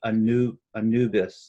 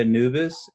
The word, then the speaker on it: Anubis: And what made it great was she kept on calling the name wrong. She kept on saying Anubis, like Anubi or something like that. And I was like, Oh my did you gosh. say Anubis?